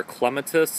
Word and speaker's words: clematis: one of my favorites this is clematis or clematis if you're from great britain that's how they pronounce it over there it's the queen of